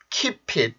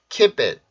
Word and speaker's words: keep it: 되어야 되는 게 맞는데 강세를 가지고 있고 P 발음, 폐쇄음이 같이 있기 때문에 이럴 때는 발음이 keep it 이거보다는 keep it, keep it, keep it, keep it, keep it, keep it 이렇게 발음하는 게 조금 더 자연스럽습니다.